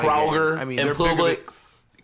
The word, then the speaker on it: Kroger: and the grocery stores in Georgia are not Kroger. I mean, and they're Publix. It's called Kroger. Kroger. No, in Georgia they say Kroger. Okay, I'm from Georgia. We say Kroger. We say Kroger.